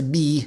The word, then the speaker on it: Miiw: On behalf of Miiw, pronounced me like me.